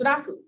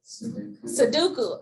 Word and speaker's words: sudoku: me all the time it's not pronounced sadaku i'm like i don't care how you pronounce it i'm gonna get this one in this square and i'm gonna get all nine numbers how do you pronounce it because you said it wrong sudoku okay okay sudoku i love sudoku whoever